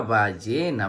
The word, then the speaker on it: ballena: La siguiente imagen muestra una ballena. Muy bien. La palabra ballena se escribe con B, A que suena ba, doble L, E que suena Y, N, A que suena na. Ballena, ballena.